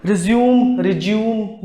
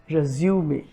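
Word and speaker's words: résumé: हम ऐसे बहुत से इसको resume बोलते हैं, जो कि गलत है. 70% इंडियंस इसको गलत प्रोनाउंस करते हैं. करेक्ट प्रोनाउंसिएशन, इसका जो सही प्रोनाउंसिएशन है वो है resume.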